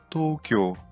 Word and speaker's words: Tokyo: Como na capital do Japão, Tóquio, que em japonês fala Tokyo, e o bichinho virtual, o Tamagotchi.